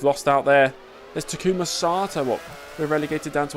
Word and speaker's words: Sato: Sato.